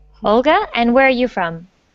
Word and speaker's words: Olga: how do you say your name my name olga and where are you from i'm from russia